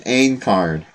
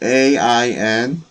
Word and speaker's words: Aincrad: Yeah, it's called Project Ain Card. Project, and it's spelled AINCRAD.